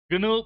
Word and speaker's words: GNU: In the 1980s, Richard Stallman started the GNU project. It is written g n u and pronounced GNU.